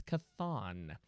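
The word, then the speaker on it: Chthon: name that i can't pronounce which i can pronounce it now it's kathon spelled t-c-h and nin this guy doesn't believe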